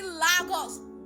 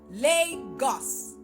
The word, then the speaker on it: Lagos: 2024 tomorrow is 2025 pronounce the goddamn city right pronounce it right now listen to me repeat after me Lagos Legos not Lagos not Lagos like I would I